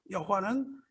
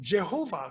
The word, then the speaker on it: 여호와: 여호와는 요드 하 브 요드예요. 그러니까 여호와라는 것이 사실은 V 발음이 나요. 연음이에요. 여호와. 그래서 영어에서 제호바 그러죠. 제호바. 근데 J가 틀리고 여호와라고 하는데 그렇게 읽었다가는 죽는 겁니다.